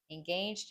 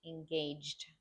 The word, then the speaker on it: engaged: Engaged. Engaged. The D sound at the end.